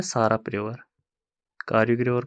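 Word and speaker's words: Tsarap: इसके बाद और एक रिवर आता है कारयुग, कारयुग रिवर, और साराप रिवर, टी रहेगा साइलेंट इसमें, साराप रिवर, पता नहीं लद्दाख वाले इसको क्या बोलते हैं, साराप रिवर।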